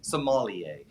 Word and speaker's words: sommelier: by the way it's it's pronounced differently in different parts of the world in america typically say or we say somalia in uh europe france